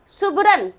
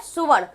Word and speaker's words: सुवर्ण: तो वह है करम का कर्म, यद्यपि का है यद्यपि, सुबरन, सुबरन, सुबरन का है सुवर्ण, सु माने सोना, वर माने रंग, सुनहरा, रंग।